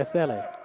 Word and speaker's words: Aseli: Is it Aseli or Aseli? It's Aseli. Aseli. That's how you say it. That's what he told me. And he says you say it very fast. Aseli. Aseli, okay. You know, don't say it slow. Say it fast.